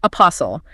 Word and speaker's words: apostle: And finally, apostle. Primarily used in historical or religious contexts to describe a messenger or follower. It is A P O S L.